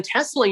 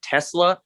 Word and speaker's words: Tesla: Do you happen to know whether the correct pronunciation is Tesla like an S or Tesla like a Z? I think it's with an S.